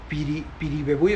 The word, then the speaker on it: Piribebuy: A ver, Piribebuy es una ciudad de Paraguay, y lo pronunciaste bien porque está en el idioma guaraní.